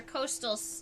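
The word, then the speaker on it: costal: going to be your Coastal Coastal vein that's spelled c-o-s-t-a-l like a coast in the ocean without the egg all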